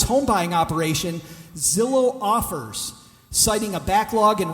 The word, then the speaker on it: Zillow: Are you guys familiar with Zillow? Begins with a Z rhymes with pillow.